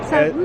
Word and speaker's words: Savu: Savu.